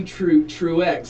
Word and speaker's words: Truex: Well, Renee Truex is how you pronounce her last name.